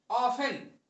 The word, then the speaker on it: often: है, फ्रीक्वेंटली और ऑफन, इसमें टी साइलेंट रहता है। ऑफन में OFTEN, टी साइलेंट रहता है, इसको ऑफन बोला जाता है, और इसको फ्रीक्वेंटली बोला जाता है, इसमें कुछ साइलेंट नहीं रहता।